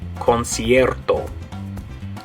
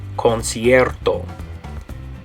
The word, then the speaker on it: concierto: Okay, now notice in that word it has a hard C and a soft C. The first C is going to be a hard C, make the K sound, concert, and then the